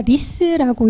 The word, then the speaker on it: RISS: 중앙도서관 메인 화면에 가시면 RISS라는 저희가 리스라고 읽는 기관을 직접 검색을 하실 수 있는데요.